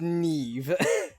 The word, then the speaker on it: Niamh: Yeah, that is pronounced Neve.